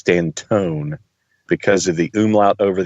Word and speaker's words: Stanton: But I think the umlaut over the O means it's Stantone as opposed to Stanton.